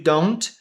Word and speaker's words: don't: Esse do not a gente vai ler o don't. Don't. com o T bem mudo mesmo.